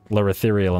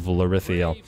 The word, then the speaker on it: Lirithiriel: Or remember to pronounce it Lirithiriel instead of Lirithiel.